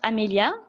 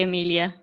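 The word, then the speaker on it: Amélia: There's an accent on your E. Yeah, because normally it's pronounced Amelia, the French way. But yeah, I always say Amelia when I'm talking English.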